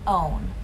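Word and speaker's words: Owyn: shakes include evolve aloha and own own is spelled o w y n you also want to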